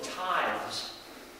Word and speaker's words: tithes: through a system of tithes. I don't know why I tripped over that word. Tithes, I say it like it's three syllables, it's one syllable.